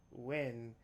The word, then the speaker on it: Nguyen: I think the proper name to say it is Wen.